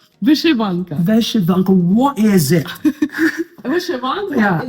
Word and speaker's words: vyshyvanka: Correct me if my pronunciation is correct. Is that Vishvanka? Vyshyvanka.